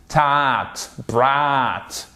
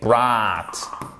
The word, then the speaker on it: brought: En fait, c'est comme entre le A et le O. C'est un son long qui se rapproche plus du A.